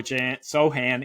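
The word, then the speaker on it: Sochan: the new Ro Jeremy so soan excuse me silent h over seven and a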